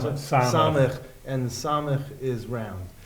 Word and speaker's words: samech: How do you pronounce it? Samech.